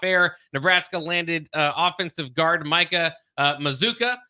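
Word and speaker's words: Micah Mazzccua: Nebraska landed offensive guard Micah Mazuka is how it is pronounced. Looks spelled a little bit different, so you have to kind of get used to that.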